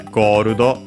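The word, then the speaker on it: ゴールド: So yeah, Gorudo, accented on the first syllable.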